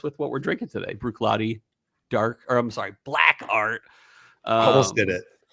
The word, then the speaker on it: Bruichladdich: That's pronounced Bruichladdich.